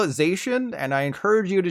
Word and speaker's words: Zacian: You probably said Zacian and Zamazenta, right? Well, I've got even more bad news. It's actually Zacian and Zamazenta.